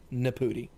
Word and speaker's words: Naputi: I watched a video where he was talking, and that's how he pronounced it. So, I'm not making fun of his last name. That's how he says it. Naputi.